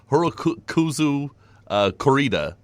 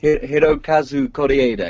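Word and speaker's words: Hirokazu Kore-eda: a hope sorry I will screw it up Heroku kuzu corrida can you say it properly for me Hiro Kazuko da da yeah much better thank you he's doing great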